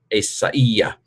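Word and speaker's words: Ἠσαΐας: This diaeresis here, the 2 dots, indicates that this is not a diphthong. You don't pronounce it as I. It's I-E, which, of course, if you say fast enough, sounds like I anyway.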